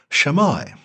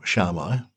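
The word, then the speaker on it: Shammai: early rabbinic houses of shamai or sharma i've heard both pronunciations and hillel around the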